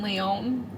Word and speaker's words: Lyon: How many letters are in Lyon? Lyon. 4. What's the second number in How many Kaylee's syllables?